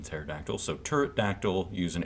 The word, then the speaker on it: pterodactyl: No, the P is silent in pterodactyl.